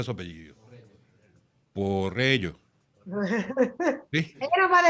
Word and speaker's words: Porrello: Me tenías que decir cómo se pronuncia su apellido. Porrello.